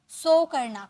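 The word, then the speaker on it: sink: गाना मींस सिं डूबना सिं सिं मत बोया सिंक सिंक होता है ओके एक मिनट इसकी प्रोनंसिएशन सिंक इस तरीके से आपको बोलना है सिंक बैठना सिट बैठना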